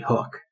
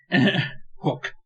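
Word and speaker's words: Houk: Yeah, honestly, the crazy thing that they should have been reporting on is the fact that someone's name was actually Hook. It's spelled H-O-U-K. Hook.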